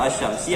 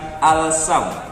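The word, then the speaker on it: الشمس: Yang membedakan dia al-qamari atau asyamsi adalah letak tanda baca setelah huruf alif lamnya. Kalau dia tanda bacanya tasydid, maka cara membacanya asyam, bukan al-sam.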